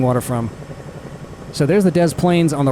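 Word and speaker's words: Des Plaines: the Dez Plains River, which is actually pronounced around here as Dez Plains. In French, you would say Delane just like you leave the s off of Illinois when you say it properly.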